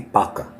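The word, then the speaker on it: vaca: Vaka or in Spanish the V is pronounced with a B. Baka.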